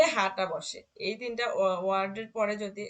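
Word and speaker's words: Euro: সুয়েলার এ এ তারপরে ও পাশাপাশি থাকলে উচ্চারণ হবে ওয়ে ওকে। ওয়ে ইউএ উম অয়ে, উয়ে উয়ে অয়ে, অয়রো। আচ্ছা আচ্ছা ওয়েরো।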